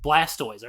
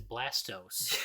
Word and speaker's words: Blastoise: Blastoise. Our dad calls Blastoise Blastos.